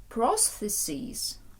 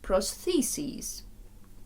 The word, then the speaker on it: prosthesis: потребує штучної кінцівки протезу слово протез може мати два наголоси тому будьте уважні до того як вимовляють у вашій місцевості прислухайтеся і повторюйте за ними це може бути або proseses або prosthesis prosthesis prosthesis or a Device to